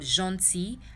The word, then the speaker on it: gentil: The L is silent in the word gentil, and outil.